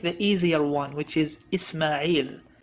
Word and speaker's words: Ishmael: easier one which is isma'il in hebrew it's pronounced as ishmael ismail versus ishmael but let's take an